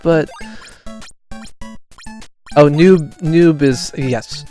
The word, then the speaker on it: noob: I'm like but oh Noob Noob is yes no Noob is the more canonical pronunciation nub is like a uh intentional mispronunciation of noob uh as would be